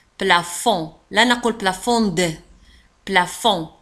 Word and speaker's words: plafond: لاحظوا على أن plafond تنتهي ب D ولا تنطق plafond.